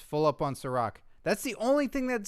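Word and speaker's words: Cîroc: Ciroc. Ciroc. C-I-R-O-C? Yeah. Ciroc? It's got a lot of Ciroc. I think it's a vodka. Oh, well, it's full up on Ciroc.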